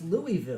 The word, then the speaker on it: Louisville: you're you're from Louisville Louisville Louisville so it's Louisville Louisville Louisville Louisville so two syllables Fox you've been there how do we